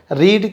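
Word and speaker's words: read: रीड क्या है, first form, spelling same है लेकिन इनके प्रोनाउंसिएशन चेंज हो जाते हैं। रीड first form, रेड second form, and रेड third form.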